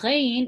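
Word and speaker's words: غ: So the ghain was the same as the ha. It's pronounced from the top of the throat. Okay, so if you notice that there's a slight gargle, similar to how the scratchiness of the ha is, so that gargle is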